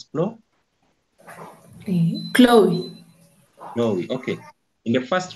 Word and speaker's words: Chloe: How do you even pronounce that name? It's Chloe? Chloe.